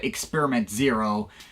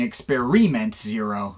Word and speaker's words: Experiment Zero: There was also one more EP released under the Zerkalo name in 2010 called Experiment Zero. Oh, excuse me, I mean Experiment Zero. That's how Lucas pronounces it.